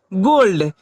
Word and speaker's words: gold: जैसे GOLD, क्या है यहाँ जी है, GOLD, इसे हम लोग क्या पढ़ते हैं, गोल्ड। यहाँ जी की ध्वनि क्या निकल रही है, ग।